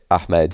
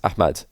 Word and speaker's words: Ahmed: he says ahmad ahmed he doesn't say med he says mad and i know that there's different pronunciations in different parts of the world i think the american pronunciation for ahmed is ahmed and then in the middle east it's ahmad so if you want